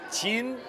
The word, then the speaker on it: 진: 我想买麻婆豆腐还有呢肥锅肉还有米饭谢谢이 집 상호에서 보시면 아시겠지만 이 집이 중국 발음으로는 천인데 한국 발음은 진이에요. 직역을 하면 진 마파 두부 집이 이제 진 마파 두부죠.